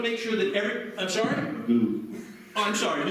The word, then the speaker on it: Magoo: Magoo. Oh, I'm sorry, McClue. So McClue is going to try something with, I beg your pardon? Magoo. How do you spell it? M-A-G-O-O. And what did I say? McGrew.